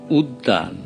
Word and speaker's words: উদ্যান: যেমন আমি যদি বলি উদ্যান, উদ্যান, দয় জফলা আকার ন, এখানে কিন্তু উদ্যান দুটো দ উচ্চারিত হচ্ছে।